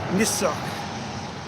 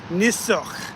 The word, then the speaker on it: Niss: But Niss is how you say salmon in uh the traditional language. Uh Wasco, traditional native language, Niss. Hopefully you guys can hear me say that properly. Niss.